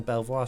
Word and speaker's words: Belvoir: Lol, I love things like that in British English. It's bonkers. It is absolute bonkers. I reject that pronunciation, says Dragon's Fin. You cannot. I genuinely didn't believe it myself. I moved onto this street and I'm like, oh, where do you live? I live on Belvoir Street.